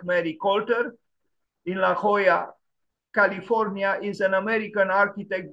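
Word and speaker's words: La Jolla: like Mary cter in La Hoya California is an American architect based in Los Angeles California I don't know if I pronounce well I try to pronounce it in Spanish La Hoya La Hoya it's also the the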